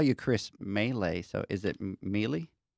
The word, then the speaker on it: Mele: so oh okay gotcha I can tell you no melee is how we pronounce melee so I've been saying it all wrong and you having that right that's the proper way to say it melee melee he says